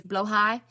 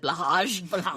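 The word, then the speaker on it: Blåhaj: It's blowhai, the BLAHHA, which I would have said blahaj, which is the shark that is a submarine.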